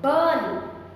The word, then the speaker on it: burn: Burn, no R sound.